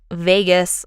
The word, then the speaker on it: vagus: is the vagus nerve I looked up pronunciation for this thing and the American pronunciation was whack so I am saying Vegas like the British do so come at me bro Vegas the vagus nerve